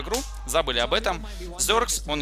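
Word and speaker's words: Xerxes: Они его называют Зеркс. Там ударение можно поменять местами, да, ну, чтобы русскому языку, русскому слуху, точнее, это приятнее звучало. Я его Ксеркс называл, ну, потому что так вроде как бы не совсем неправильно называть.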